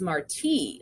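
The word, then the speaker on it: Martí: dad was funny about marty's name always making sure people knew how to pronounce it properly it's marti like jose marti the cuban poet not marty like marty mcfly from back to the future most times people would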